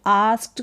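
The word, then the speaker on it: asked: हम जब इसको प्रोनाउंस करेंगे तो ED का साउंड थोड़ा कम आएगा।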